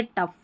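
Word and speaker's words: tough: यहाँ पर जो GH है ना, इसको फ पढ़ा जा रहा है।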